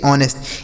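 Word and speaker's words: honest: एच ओ एन ई एस टी ऑनेस्ट।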